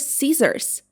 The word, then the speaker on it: scissors: It should be pronounced like Caesars. Caesars. And of course, it's a tool used for a cutting. For example, don't run with scissors. It's dangerous. Rock, paper, scissors.